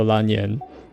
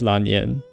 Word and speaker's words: Lan Yan: Yen rhymes with Ban. Yeah, okay. So Lan Yen. So they do say it like the like the toneless Chinese pronunciation, which is Lan Yen, which makes sense.